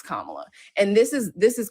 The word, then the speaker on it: Kamala: Soyeski, if we can pronounce Tchaikovski, we can pronounce Kamla. It really gets to a point where um people do it on purpose and like oh well it's not a big deal or Camala or what like it wears on people and